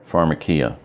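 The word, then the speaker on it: φαρμακεία: they're far ma k pharmakeia that sound familiar which craft phonetically it has pronounced in here for in case you don't know how to pronounce the transliteration far MUC Mac e pharmakeia their definition this is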